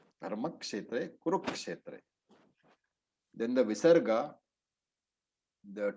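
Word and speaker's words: धर्मक्षेत्रे: So Dharmakshetra, it is Kshetra. Dharmakshetra, Kurukshetra.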